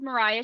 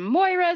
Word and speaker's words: Moriah: bear in mind that my name Mariah is spelled differently than Mariah carries even though it's pronounced the same and so I get a lot of mispronunciations I get some Moira Maria different things but